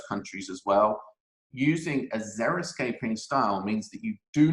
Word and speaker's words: xeriscaping: trend number three is xeriscaping now this is spelt with an x so x e r i escaping and this is actually